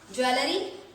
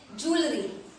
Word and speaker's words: jewellery: इसे हम क्या पढ़ते हैं, ज्वेलरी। ये गलत प्रोनाउंसिएशन है गाइस, इसको पढ़ना है ज्वेलरी, ज्वेलरी।